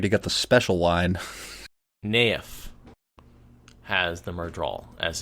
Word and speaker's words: Nynaeve: all this time ain't Nayef is how it's said in the audio books that's what everyone seems